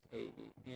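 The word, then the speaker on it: Ewy: That other investigator was, it's spelled E-W-Y, but it's pronounced A-E.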